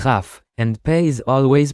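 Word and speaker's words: ך: Remember that, at the end of a word, Kaf is always pronounced as Chaf, and Peh is always pronounced as Fe.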